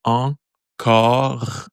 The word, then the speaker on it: encore: So the "en" from the first word, "en," and then "car." I tried to seek in English how you say that. So I was thinking art, but when we were pronouncing art, it's more like open. So we want like "oh." So encore, and then we put the R that you don't really use in English.